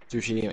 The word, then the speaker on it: Tsushima: Fuck, I can't pronounce that. Ghost of Tsushima. Tsushima, yeah.